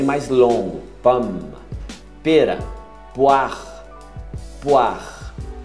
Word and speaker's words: poire: Poire. Poire. Até o R. O E some.